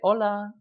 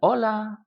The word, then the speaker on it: hola: But when you see a friend, it's much more common that you'll say hola. Repitan hola. Of course, we don't pronounce the H.